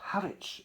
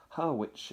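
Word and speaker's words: Harwich: Haritch in Essex, Haritch, it's spelled.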